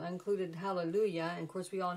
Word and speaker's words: Hallelujah: course we all know on Hallelujah you pronounce the J makes a white sound we all know that I mean that's kind of common knowledge that no one no one says hallelujah of course it means